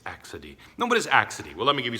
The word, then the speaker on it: accidie: or something like this but it's not it's pronounced accide and it's actually translated in the book um